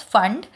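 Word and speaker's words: Pfund: Spelling is P-F-U-N-D. P is silent. We pronounce it as fund, in which n1 is equals to 5, n2 is equals to 6, 7 and so on.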